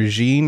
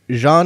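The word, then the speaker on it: Jeanne: and call that character jeene or Jean or something because Jean is the correct pronunciation with like a soft J like the J and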